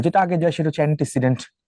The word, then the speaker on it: antecedent: Look at the spelling, বানানটা দেখাও, অ্যান্টিসিডেন্ট, নট ANTI, আই না কিন্তু, ANTECEDENT, অ্যান্টিসিডেন্ট।